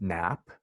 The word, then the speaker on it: GNAP: So it's pronounced GNAP.